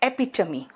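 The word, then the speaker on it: epitome: उसी तरह से अगर हम कहे एपी और टी ओ एम E Tomé होता है। लेकिन यह प्रोनाउंसिएशन आता है एपिटमी।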